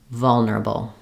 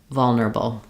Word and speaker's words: vulnerable: but just know that we really reduce and rush through these unstressed syllables here. One way to practice that is to say those syllables first and then add your stressed first syllable back. That would sound like neurable, vulnerable, neurable, vulnerable.